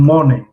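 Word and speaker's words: morning: اکنون مورنینگ، مورنینگ ر با پرگی تلفظ نمی شود، مورنینگ نمیگیم.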